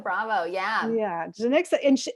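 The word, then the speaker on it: Janicza: Janica Bravo. Yeah. Yeah. Janixa, and I like, that's how you say it.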